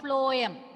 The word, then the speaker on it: phloem: Ma'am, phloem transport the phloem, food to the phloem. Phloem transport the food. Wait. First, we'll correct that pronunciation and go. Phloem. Flow, no? Flowing. Phloem. Just say.